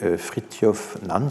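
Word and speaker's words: Fridtjof Nansen: statut des réfugiés à patrie dans 1921 et fritty of Nams ça se prononce comme ça friture finalement zoologiste explorateur norvégien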